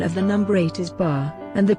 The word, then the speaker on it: 八: chinese the pronunciation of the number eight is bar and the pronunciation is very similar to the character which